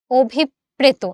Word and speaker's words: অভিপ্রেত: অভিপ্রেত, আমরা অটাকে অ রাখি না, ওতে কনভার্ট করি।